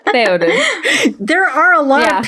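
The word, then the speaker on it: Théoden: How do you pronounce his Peepum's name? Theoden.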